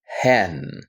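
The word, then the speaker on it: ἕν: is actually pronounced as hen. Like a hen, like you're talking about a chicken in its pronunciation.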